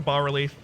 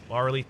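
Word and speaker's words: bas-relief: Not going to use the bas relief. Bas relief, bas relief. Ask Miriam's. Both are acceptable pronunciations. I know, because I checked with Miriam's.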